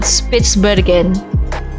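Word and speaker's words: Spitsbergen: on an island called spitzbergen Pittsburgh again is that how you pronounce it spits it's Bergen okay it's very good okay but okay side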